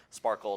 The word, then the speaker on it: SPARQL: have interesting names like SparQL, Sparkle it's pronounced, or Gremlin, Apache, Tinkerpop.